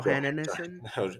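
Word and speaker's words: Johansson: think about it, or say her name phonetically. It's a Jo- Johannesson.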